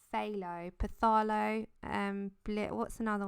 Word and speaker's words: phthalo: way I say thick Opeth Allah when it's phthalo path Allah and what's another one I've done so I've butchered so many things it's unreal and it's